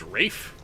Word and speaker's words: Ralph: findes is um I I think it's pronounced Rafe despite the L in his name I don't know but